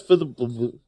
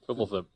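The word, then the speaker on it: Fblthp: Fibblethip. Fibblethip? Fibble? Yeah, there's no vowels. Say it again? Fibblethip. Well, it sounds like you had an I in there.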